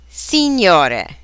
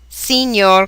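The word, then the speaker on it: Signore: titles in Italian are Senor this means sir or Mister drop the final E when using it in front of a last name for example Senor Conti Senora this means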